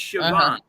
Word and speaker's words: Siobhan: i just okay so s-i-o-b-i-a-n siobhan right no it's yeah it's chabot did you know that